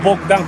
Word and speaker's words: Boğdan: however, a Bogdan, spelled Boğdan. Surprisingly, it's the Turkish name for Moldova You better don't pronounce "k" instead of "g", cause "bok" means "sh*t" in Turkish Okuç from Azerbaidjan gave